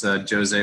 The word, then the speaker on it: José: I'm slowly educating Americans that the Portuguese pronounce Jose with a hard J, not a not a soft J.